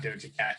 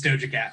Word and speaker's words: Doja Cat: It's not Doja Cat. It's Doja Cat.